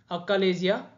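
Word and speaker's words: achalasia: नाम से जानते हैं उसको क्या बोलते हैं अलेजया कार्डिया समझिए का वर्ड को स्पेलिंग को आप कोई नहीं अलेजया ए सीए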